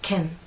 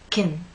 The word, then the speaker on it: can: What's the phonetic transcription of this shorter unstressed pronunciation? Well, there are actually two possibilities. Let me show you. The first one is Ken. The second one is kin.